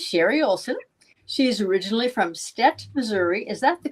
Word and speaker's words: Stet: She's originally from Stet, Missouri. Is that the correct pronunciation?